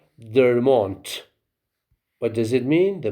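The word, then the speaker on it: der Mond: three genders masculine like dermont what does it mean the moon of course they you have to pronounce it their mon we write du and at the end we say t so the Moon is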